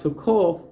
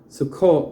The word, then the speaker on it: Succoth: It's pronounced Succoth, not Sukkot, by the way.